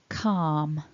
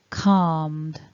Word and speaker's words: calm: walked walker again no al with these words calm calmed calmly calmer again calm calmed calmly karma another